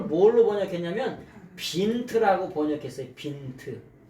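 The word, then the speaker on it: Wind: 뭘로 번역했냐면 빈트라고 번역했어요 빈트 요거를 독일 말로는 빈트라고 읽어요 영어로 말하면 윈드가 될 텐데 윈드가 될 텐데 독일마루는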